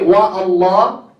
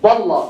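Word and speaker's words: والله: Okay, what if we put wow? You say wa Allah. What do you say? Ah, you see? Wallah, huh? Drop the hamza right away. Wallah.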